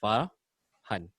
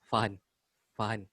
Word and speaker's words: Farhan: friends who even though Farhan is easy to pronounce right that's two syllables far honey but somehow people really remove the are become fine fine then they some people